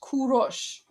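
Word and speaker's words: Kourosh: Okay, so Cyrus is pronounced Kurosh. Ku rosh. And um Darius is pronounced Dorush.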